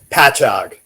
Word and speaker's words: Patchogue: here, which, by the way, how do you pronounce this theater, by the way? Patchogue.